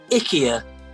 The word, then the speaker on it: IKEA: false Bernard it's true however you saying it wrong it's IKEA IKEA okay true Bob okay